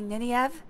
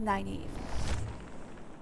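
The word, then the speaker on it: Nynaeve: them, like for instance, there's one that's n a v. And apparently it's supposed to be ninev. I always said naive or maybe maybe that I have that backwards.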